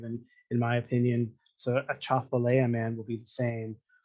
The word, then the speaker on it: Atchafalaya: That's the correct pronunciation of Atchafalaya, the big swamp that exists across most of Louisiana.